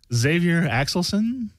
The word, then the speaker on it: Xavier Axelson: they're right next to you we have uh Xavier axelson yes did I pronounce that right Xavier perfect oh great and